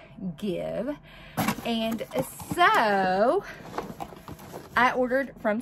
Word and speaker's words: GXVE: stefani's new makeup line give beauty or it is spelled g x v e beauty which i believe is pronounced give and so i ordered